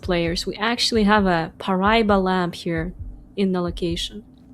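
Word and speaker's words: Paraíba: It is Pariba. 263 points to start us off. Good pronunciation there.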